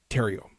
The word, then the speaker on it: Theriault: Kristen Van uden um ter I'm sorry ter Tero there you go yes I I need Ron back for the uh for the pronunciation um Kristen is the author of when